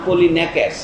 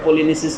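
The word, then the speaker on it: Πολυνείκης: আদেশ দিয়েছে আমাদের দুই ভাই, একজনের নাম অ্যাথিওক্ল্যাস আর একজনের নাম পলিনেকেস। আপনারা ইংরেজিতে ভুল উচ্চারণ করে, পলিনিসিস বলে, কিন্তু এটা গ্রিক উচ্চারণে করছি আমি, সি থাকলেও কে উচ্চারণ হয়।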